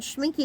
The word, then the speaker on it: Schmincke: Yeah, it's like rhymes with squash. But 60 millimeters, and Schmincke is a very well-known brand.